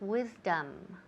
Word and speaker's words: wisdom: wisdom excellent wisdom wisdom now the second vowel that oh it sounds more like an a almost wisdom wisdom okay next we